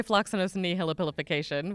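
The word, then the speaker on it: floccinaucinihilipilification: I don't even know if the correct pronunciation is what I say. I say floxacinosinihipilification, which is really close to what you just said.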